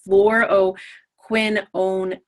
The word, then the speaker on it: fluoroquinolone: antibiotic is in the fluo quinolin I can never say it properly so it's the pronunciation is fluo quinan okay and this particular